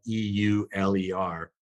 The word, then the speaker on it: Euler: mathematician dutch his name was euler it's spelled e-u-l-e-r but pronounced euler and he came up with a